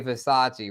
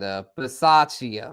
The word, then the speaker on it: Bisaccia: Okay, Versace. Rich Versace. I don't know how to say it, but he was their special teams coach. The dude, Rich, from the Raiders, the special teams coach. And Bisaccia, Rich Bisaccia.